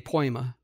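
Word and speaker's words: poiema: It's spelled P-O-I-E-M-A, poema.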